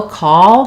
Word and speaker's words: call: the same so no call has the dark L and the a vowel call um and cow ow has the ow dip thong so um cow is like now call is like tall um I was he